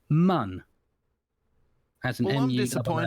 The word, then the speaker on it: Mun: Squad have decided, they told Nate Simpson, who's creative director of KSP2, that it's pronounced mun.